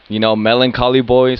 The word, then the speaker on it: MelancholyBoiii: You can find me at MelancholyBoiii. So Know like, how to spell it.